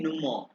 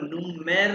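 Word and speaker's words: Nummer: इसके बाद देखो हैंडी नुमा हैंडी नुमा यानी कि हैंडी मोबाइल हो गया नुमा इसको नुमेर नहीं प्रोनाउंस करना जमा इसको प्रोनाउंस कहते हैं नुमा नु हैं नुमा हैडीनी नुमा अभी अनुज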